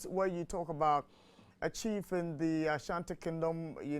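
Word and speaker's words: Tshi: my pronunciation is correct, is T-S-H-I, Chi kings, yeah, the Chi kings.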